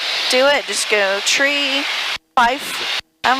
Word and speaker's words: three: read the phonetic thing it says to pronounce it tree in five and niner just glad i don't